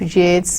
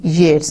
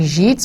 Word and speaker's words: Yeats: And look at this man, he's pronouncing this name in the same rhyme pattern as that of Keats. So W.B. Yeats and the second coming.